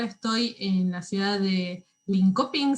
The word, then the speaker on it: Linköping: en la ciudad de linköping se escribe se pronuncia no me costó aprender a pronunciar no se pronuncia link shopping pero bueno aún me